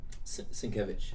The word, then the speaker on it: Sienkiewicz: But, man, if you really want something that's you've never seen before, Stray Toasters by Bill Sienkiewicz. Did I say it right? Sienkiewicz.